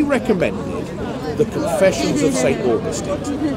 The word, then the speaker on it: Augustine: Please, Americans say Augustine. Yeah, I know, St. We Augustine. Say Augustine. No, we don't, because St. Augustine is a town in Florida. He's St. Augustine, is my understanding.